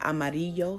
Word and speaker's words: amarillo: the Y sound so if you see the word Amarillo for example which is yellow anytime the LL is together it's going to make a y sound anime in a Enya